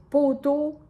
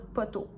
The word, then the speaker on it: poteau: Mais poteau, c'est la prononciation normale, mettons, mais les gens de Québec, la ville de Québec, sont connus pour dire poteau.